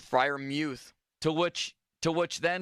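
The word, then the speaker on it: Freiermuth: during the broadcast that frier Muth told them during the week that that's how you pronounce his name frier Muth Fri Muth to which to which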